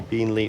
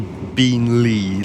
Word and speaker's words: Beenleigh: And why does it say Beenleigh? Like, so emphasizing on the two syllables. That's like wrong.